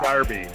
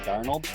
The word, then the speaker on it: Darnold: I said Sam Darby. Sam Darby for Heisman. Sam Darnold?